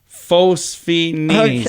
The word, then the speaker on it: phosphene: you rub your eyes it's called phenophenus is i don't know how you say it it's i didn't know i had a name s-p-h-e-n-e-s phosphene okay nailed it all right several fun